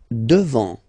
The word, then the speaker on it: devant: Devant, final T not pronounced.